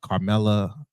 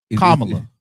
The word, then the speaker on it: Kamala: quote me on that, Carmela and Joe Biden, other prominent folks like that were vice president. Oh, I said it wrong. Yes. Oh, Kamala.